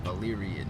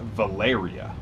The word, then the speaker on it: Valeria: So I pronounce that Valeria. Valeria. Not Valyria. Yeah, which is very, very similar, but I see how you're distinguishing the E from the Y.